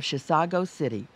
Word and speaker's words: Chisago City: It comes from Chisago City, which is not a mispronunciation of Chicago.